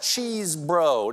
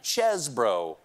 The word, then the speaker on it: Chesebro: mean Jail jail Kenneth cheese bro now to be fair cheese bro pronounces his name chesbro also to be fair